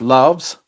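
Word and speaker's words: LAVS: unum Unum Laos l-a-v-s but pronounced loves allows I discovered this melt my heart yes that's right too expensive though silly price I highly recommend that Philippe or sochinelli though the Unum loves if you like incense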